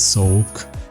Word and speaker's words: soğuk: Something similar happened to Sovuk, code which is Soğuk, but the letter G is not pronounced.